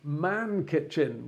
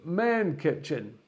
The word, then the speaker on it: MännKitchen: before today is that an a with two dots above it otherwise known as an umlaut is actually pronounced air so in fact it's from main kitchen that's by the by